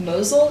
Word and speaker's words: Mosel: And I also know that much of the book is set in the Mosel, is that how I'm pronouncing it?